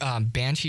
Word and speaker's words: Banchi: It's like That's spelled BANCHI. Okay, not so like if you look the- up not like Banshee, the ghost.